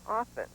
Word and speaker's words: often: When I was younger, we were taught that one does not pronounce the T in often.